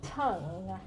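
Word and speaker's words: Tung: states we call ourselves people just call me tong t-u-n-g because that's that's the american way and i don't i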